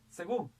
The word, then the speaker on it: según: Según, la mayor fuerza de voz está acá, termina en N, lleva tilde, porque es aguda.